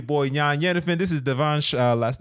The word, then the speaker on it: Devansh: And um you know so I know I I'm probably saying gonna say your name wrong but Devanch. Oh that's perfect man. Really? Yeah that's perfect. Yeah. Devanch.